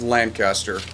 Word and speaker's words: Lancaster: new pistol anything new and repeaters apparently that's pronounced Lancaster still can't get still can't still lunch can't